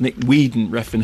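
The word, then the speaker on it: Nicolas Winding Refn: for glorifying violence now the director spell Nick winging rein but I believe pronounced Nick Weeden Reen who I think is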